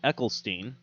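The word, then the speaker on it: Eccleston: is funny because, um, I always pronounce his name wrong and then people always correct me, but Ecklestein.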